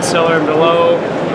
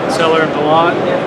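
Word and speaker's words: Sellier & Bellot: Sometimes you'll say seller and below, seller and below. Most people say S&B.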